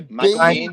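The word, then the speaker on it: Biehn: I go Bean, but that makes him Mr. Bean, doesn't it?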